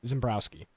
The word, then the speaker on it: Zembrzuski: Zembrowski. Which is funny is his Twitter is like Jake underscore Zembrowski.